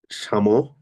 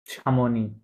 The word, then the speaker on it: Chamonix: Chamonix সামনি, Chamonix হুম, de Chamonix হুম, au sud de la Suisse sweet, ওকে, et au nord de l'Italie, ওকে।